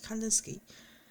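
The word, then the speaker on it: Kandinsky: 누구 있고 한데 여기서는 이게 와 아인데 바슬리 칸스 키라고 읽어요 어쨌든 칸스 칸단 스키요 사람에 의해서 가장 잘 보여줍니다 그럼요 사람이 어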